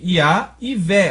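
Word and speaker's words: יהוה: Iá e Vé. Ó, o Vé aqui está mudo. Eu estou pronunciando só o V. Vé, né? Não estou falando verri, estou falando Vé.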